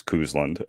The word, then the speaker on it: Cousland: of your name well the last name is pronounced at least the way i pronounce it is kuzlund um and it's basically